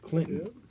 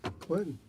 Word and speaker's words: Clinton: Clinton. Clinton. Where the T is sweet and the T is silent.